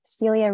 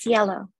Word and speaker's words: Cielo: It looks like Celia. I'll allow you to talk. Okay. Hello. Hello. It's pronounced Cielo. Cielo. Sorry about that. Yeah, like S-Y-E-H-L-O, Cielo.